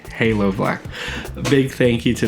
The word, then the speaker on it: Halo Blk: color foreign I think I've been saying it wrong it's Halo black a big thank you